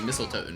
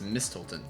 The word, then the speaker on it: Mistolton: I keep pronouncing it Mistletoe. It's Mistolton.